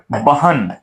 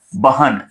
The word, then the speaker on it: बहन: शब्द लिखा हो बहन, शब्द लिखा होता है बहन, जल्दी से उच्चारण किया जाता है कि वो मेरी बहन है, वो मेरी बहन है, वो मेरी बहन है।